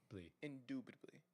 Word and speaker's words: indubitably: I do say you have to pronounce it the right way. It's in. Say it. In dub. Dub. Dip. Dubly. Indubitably.